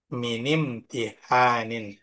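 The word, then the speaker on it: امتحان: maka hamzahnya ini terbaca imtihanun. Imtihanun beda nanti kalau misal terdapat di pertengahan hamzah wasalnya terdapat di pertengahan. Contoh imtihan kok di awalnya ada min. Maka cara bacanya minimtihanin.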